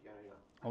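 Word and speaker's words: Jehne: It's spelled Jenny, but it's pronounced Yana.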